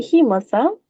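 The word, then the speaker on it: hemocoel: and organs in the um is it pronounced the the he heel he cell very good that's exactly how we pronounce it heel right good so that's how we do it so the hemosel formation so how does the hemo cell form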